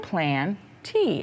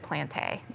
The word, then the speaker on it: Plantae: plants into kingdom plantae oh plantee pronounced plant tea everyone say that with me plain plant tea say kingdom planty kingdom plant that's just some some plants mm-hmm lots of different kinds i like how the author included that to tell us how to pronounce that word me too because otherwise i would have said plantae yeah me too plants